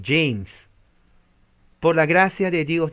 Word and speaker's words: James: soberano, el rey James, se escribe James, pero la E es E y la J es J, se pronuncia la M, no se pronuncia la E y se pronuncia la S, James, por la gracia de